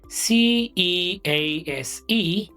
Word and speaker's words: cease: Pronunciation: CEASE, siːs. SEIZE, siːz. They sound very similar, but not exactly the same.